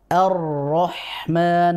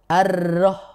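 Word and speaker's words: الرحمن: huruf ro fathah ini dibaca tebal jadi kita bacanya Arrahman bukan arrah begitu oh bukan tipis Arrahman tapi tebal ar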